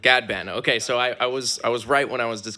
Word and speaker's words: Ghadban: amazing guest tonight I never asked you the pronunciation I want to make sure I get that right yeah it's a gadband gadband okay so I I was I was right